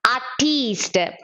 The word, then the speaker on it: artiste: Here this E is silent, this I should be pronounced a little longer. Artist, artiste.